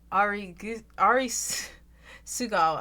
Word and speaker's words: Arisugawa: I keep saying his name wrong. Ari Sugawa. I got that fucking American Southern accent, alright? I'm pronouncing the U like it's an A.